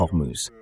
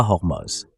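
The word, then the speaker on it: Hormuz: Non, les Russes prononcent le H quand c'est un mot avec un H, mais pour une raison ou une autre, oui, ils ne le font pas pour hormouse. Pas hormose.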